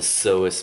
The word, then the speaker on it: psoas: Okay, this large muscle here is called the psoas major, spelled with a P.